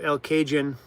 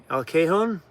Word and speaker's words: El Cajon: Your pronunciation of El Cajun. I guess I said it wrong. Well, you're still talking about eggs? Where'd that conversation come from? El Cajon?